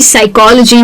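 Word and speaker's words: psychology: यानी कि पी एस अगर किसी स्पेलिंग में आप देखते हैं जैसे कि साइकोलॉजी है या साइकिक है या साइकेट्री है।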